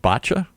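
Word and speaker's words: Báite: I'm going to see if I can pronounce in Irish. Is it botcha?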